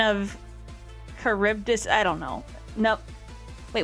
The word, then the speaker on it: Charybdis: Charybdis. Okay. There we go, Charybdis. Now I know how to spell it.